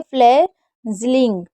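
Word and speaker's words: fledgling: उसके बाद है फ्लेजिलिंग। फ्ले फ्लेजिलिंग। यहां पर डी साइलेंट है इसलिए फ्लैजिलिंग पढ़ा जा रहा है।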